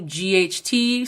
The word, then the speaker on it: Vought: Last name is spelled Vought, so maybe Vought as in bot, but definitely check out